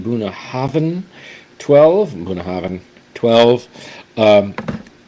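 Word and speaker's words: Bunnahabhain: single M Scotch whiskey buah Haven that's how you pronounce it buah Haven 12 buah havan 12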